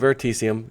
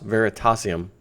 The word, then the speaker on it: Veritasium: ver veritasium quickly and I keep calling it verium just FYI it's Veritas veritasium is really how you pronounce it but if you